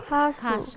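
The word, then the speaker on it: 가수: Kasu. Kasu. Artinya singer. Kasu. Ya. Jadi kalian suka kasu yang siapa? Oh. Oke. Kasu yang siapa?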